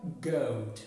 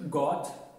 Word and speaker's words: goat: For example here we have goat ما كنقولوش got وما كنقولوش road وما كنقولوش boat it's not correct boat road goat goat هي المعز goat.